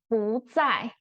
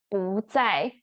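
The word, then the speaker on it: 不在: answer, you can say 不在不在. Be careful, the pinyin gonna show you fourth tone. But because 在 is fourth tone, your 不 actually need to pronounce as second tone.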